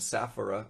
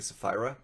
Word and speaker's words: Sapphira: Ananias and Sapphira, I always say that wrong. I'm pretty sure it's actually Sapphira.